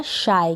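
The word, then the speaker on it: shy: एस एच को श पढ़ेंगे, वाई को आई पढ़ेंगे, तो ये बन गया शाय। क्या बन गया, शाय मतलब शर्मीला, शी तो नहीं पढ़ सकते तो शाय पढ़ेंगे, शाय का मतलब तो होता है शर्मीला।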